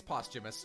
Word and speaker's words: posthumous: receive the post-humanism posthumous it's posthumous you don't pronounce the th oh okay there's no